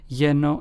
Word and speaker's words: lleno: Lleno and pollo. Notice how in both of those the two L's sound like a Y in English.